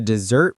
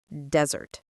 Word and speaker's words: dessert: Always check the dessert menu. Sometimes it's separate from the main menu. And remember, the word is pronounced dessert, not desert.